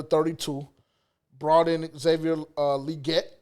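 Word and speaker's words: Legette: in Xavier uh liette because that's how he said you pronounce it so I'm going to try my best cool whatever liette that's what he said that's what he said in the opening press conference so yes sir yes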